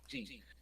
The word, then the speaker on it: Gin: What became of Jin or Jin? You know what? Screw it. The Japanese pronunciation? Jin.